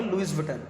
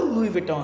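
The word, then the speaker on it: Louis Vuitton: अब इसकी आप स्पेलिंग देखेंगे ना तो आप इसको पढ़ेंगे लुइस विटन, लेकिन जो उसका प्रॉपर है वो लुई विटॉन है।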